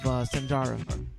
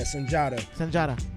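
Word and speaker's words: Sundiata: Why the Lost Seed of Sanjara, if I'm saying it right? Yeah, Sanjata.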